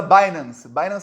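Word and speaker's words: Binance: ele usa o burrão ele usa bainans aplicativos se escreve Bin lance com c b i n a n c e um aplicativo aí de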